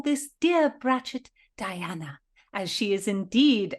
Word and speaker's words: brachet: us the spelling of Bret Philadelphia it is spelled b r a c h e t ratchet plural brets it is a female